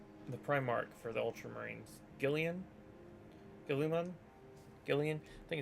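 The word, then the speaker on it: Guilliman: Gillian?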